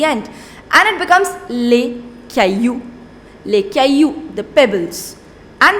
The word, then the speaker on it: caillou: Next, le caillou. Le caillou. Now, it is not pronounced, double L is not pronounced in French.